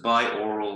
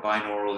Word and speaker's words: binaural: normal is hearing so buy oral or binaural is how you pronounce it and meditation now there's